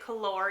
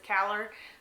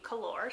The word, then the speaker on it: Kalor: I did ask the author how to pronounce it. She did say Kalor, even though the audiobook narrator says Calor. It is supposed to be Kalor.